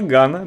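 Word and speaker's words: Gane: что они забрали жир, произнесите прямо сейчас фамилию этого бойца с ударением на второй слог.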